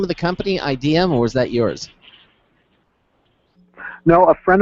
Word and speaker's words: Ideum: But my first friend said, because I said, what if people pronounce it idiom, and he said, only Maroons or idiots would pronounce it that way. But unfortunately, it's a lot of other people who I wouldn't put in that category pronounce it wrong.